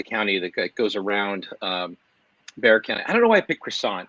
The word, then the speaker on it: Bexar: who lives in uh bear county bear it's bear county bear county i'm not used to the silent x um it's been a